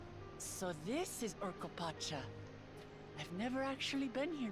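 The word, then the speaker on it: Urqopacha: I actually got really close on the pronunciation. So this is Urkopacha.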